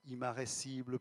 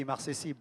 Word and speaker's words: immarcessible: Eh oui, immarcessible, bien sûr. Immarcessible et non pas immarressible.